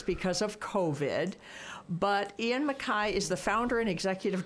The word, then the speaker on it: MacKay: So I want to make sure I have your last name pronounced correctly. It's MacKay, right?